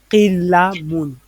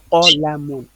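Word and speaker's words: قَلَمٌ: Donc, c'est avec la mémorisation visuelle que tu vas savoir que ça, on va pas dire qilamun, on va dire qolamun. Avec la mémorisation et les leçons de grammaire, on va dire ça qolamun.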